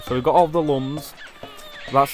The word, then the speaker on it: lums: So we've got all the lums. That's how you should pronounce it because it's L-U-M-S. So I thought it wouldn't be looms, so it's lums, I guess.